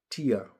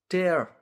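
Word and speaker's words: tear: अब यही टियरलाई लाई ट इ ए आर स्पेलिङ छ। टेर भनेर पढ्यो भने चाहिँ च्यात्नु भन्ने बुझिन्छ। टर भन्यो भने च्यात्नु टियर भन्यो भने आसु।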